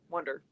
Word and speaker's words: Wunder: Wonder. Yeah. Yeah. Spelled like that.